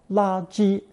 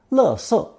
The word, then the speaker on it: 垃圾: to create 垃圾, or 垃圾, the term for trash or garbage. 垃圾 is the standard pronunciation in Taiwan, 垃圾 the standard in China, but either way, the meaning does not change.